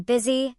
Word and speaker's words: busy: E. In specific words, U sounds like E as in busy and business.